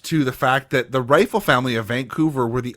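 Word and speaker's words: Reifel: the people out there it's not spelled like rifle the gun it's r-e-i-f-e-l yep is that true it is rifle that's how it's pronounced but yeah yeah that's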